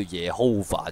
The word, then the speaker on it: Jehovah: 佢话以前 J。个发音系读 Y 音嘅，咁所以就会咁样咯。